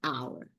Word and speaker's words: hour: umbrella an octopus and here the letter H is silent so we say an hour so again when we